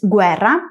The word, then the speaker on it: guerra: En italiano, el grupo G + U seguido de E se pronuncia, a diferencia del español, donde estas tres letras juntas se pronuncian gu, en italiano es guerra, en español es guerra.